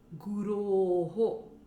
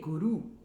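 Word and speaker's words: गुरोः: Now, if I mispronounce Guroho and just say Vande Guru, Guru basically means the doer. It's in the Prathama Vibhakti, the first case, the subjective case.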